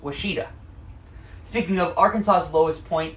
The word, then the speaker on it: Ouachita: the Washita mountains oh here's another one that isn't spelled quite like it's said you heard I said Washita and you would probably expect that to be spelled something like waa s H ITA no it's oh you ACH ITA which is the French spelling the best part is